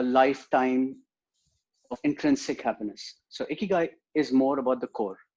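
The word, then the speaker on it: 生きがい: Before we start, I would like to know what is the correct way to pronounce this term spelled as Ikigai. It's Ikigai.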